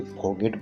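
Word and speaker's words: forget: यहाँ पे देखिए दोस्तों, उसके फॉरगेट बोलेंगे, आर साइलेंट रहेगा यहाँ पर।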